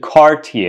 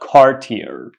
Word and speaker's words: Cartier: do not mispronounce this word you got to pronounce it Cartier it's not Cartier so Cartier Cartier what about this word this